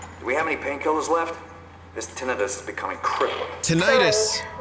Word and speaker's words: tinnitus: I've heard, I've heard it pronounced both ways. Tinnitus, tinnitus.